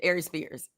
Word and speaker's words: Aries Spears: Aries Spears.